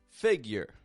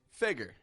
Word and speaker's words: figure: word back to me let me hear you say that with the Y sound first of all figure y figure what do you got and the other way figure figure what's the difference